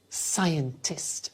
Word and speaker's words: scientist: I'm a scientist. Again, a difficult pronunciation.